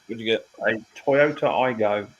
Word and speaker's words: Aygo: A Toyota Igo X.